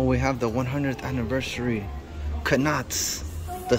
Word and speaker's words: Knott's: I say Knott's because there's a K. She says the K is silent. Then why do they emphasize the K so much? If it's silent, it might as well be invisible.